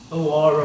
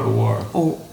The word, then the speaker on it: awara: Awara. Awara. Awara, spell it.